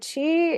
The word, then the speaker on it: qi: eastern practices to understand chi Soq chi is sometimes I in my book I spell it qi. Sometimes you'll see it spelled ch hi.